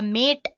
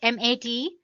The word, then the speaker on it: MATE: boots you into the mate desktop environment let me pronounce it m80 you can call it whatever you want mate or mate desktop environment so as